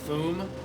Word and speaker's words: Foom: the Doom bots, confronts not Doom but Foom. It's literally the rhymes with Doom, and it's like.